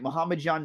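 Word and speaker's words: Muhammadjon: the Jamie Malarkey and Muhammad John or muhamjan well yeah am I saying that right hold on Muhammad John naimov sorry I wasn't pronouncing it right Mohammed John naimov but the other fights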